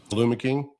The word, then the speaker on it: Alum King: So, short for aluminum. And if some people have a little struggle with how to pronounce it, that's just how I broke it down. So, obviously, short for aluminum and then my last name.